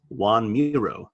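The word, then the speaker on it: Joan Miró: by a corrects Homer and says that it's pronounced Juan Muro while another student calls him a stupid townie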